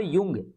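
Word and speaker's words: Jung: उनके घनिष्ठ सहयोगी कार्ल युंग, है ना, यहाँ पर जंग आपको लग रहा होगा लेकिन जे साइलेंट तो युंग पढ़ेंगे, है ना, ये अमेरिकन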